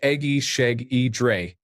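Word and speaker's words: Egészségedre: Ijesagidra, pronounced Egi Sheg E Dre, means bless you or cheers in Hungarian.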